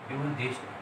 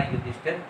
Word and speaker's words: युधिष्ठिर: उच्चारण दोष हमारा क्या है, हम बोलते हैं युधिष्ठर, ये बिल्कुल गलत है, और शुद्ध होगा युधिष्ठिर, क्योंकि हमारा धार्मिक जो